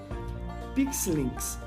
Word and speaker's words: Pixelynx: Pixelinks, certo? Eu vou soletrar. P-I-X-E-L-Y-N-X. Pixelinks.